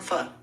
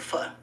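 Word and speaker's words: pho: Yeah, but it's f. But they call it fur. They say we say it wrong. It's f. P h o.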